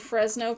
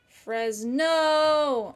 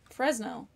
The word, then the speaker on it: Fresno: making missionaries really interesting I mispronounced Fresno what did I say fresn no I don't know Fresno fresn no okay wanted to say